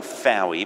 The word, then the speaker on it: Fowey: Philip de gray water here now it's written Fowey but I know you don't pronounce it it's for you it runs with boy as in the the